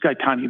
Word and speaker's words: Gaetani: Gaetani, that's the correct pronunciation, is it not?